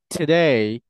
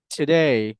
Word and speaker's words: today: এই যে দুই দাঁতের মাঝখান দিয়ে হালকা বাতাস বের হবে, দুই দাঁতের মাঝখান দিয়ে কি বের হবে? হালকা বাতাস বের হবে, এরপর উচ্চারণ হবে হচ্ছে টুডে, টুডে, নট টুডে।